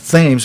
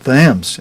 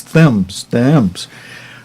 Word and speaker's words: Thames: said, Steve, it's simply the Thames, not Thames, but Thames, and it just sounds like Thames sometimes. It's Thames.